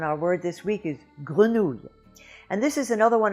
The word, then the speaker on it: grenouille: The second syllable has 7 letters, but there's only 3 sounds. And those sounds are not hard to say, actually. It's the spelling that makes it look harder.